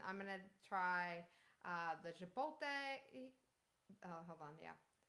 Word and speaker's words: chipotle: fine yeah and I'm gonna try uh the Chipotle oh hold on yeah how do you say